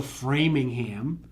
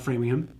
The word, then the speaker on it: Framingham: where there are actually towns that end with the HAM, that's what you say is the ham. Like, so Framingham, that's how that's pronounced, not Framingham.